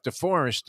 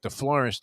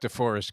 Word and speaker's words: DeForest: of this guy jeff deforest you know he mispronounced my name as like the florist you know down here